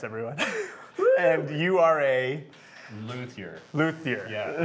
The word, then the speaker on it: luthier: and you are a luthier luthier yeah now if you're french the the pronunciation is lucie lucie well i have a